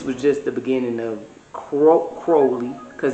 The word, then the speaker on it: Crowley: And this was just the beginning of Crowley, because he says his name rhymes with holy, so Crowley. I say Crowley sometimes, but it's holy Crowley, like Crowley.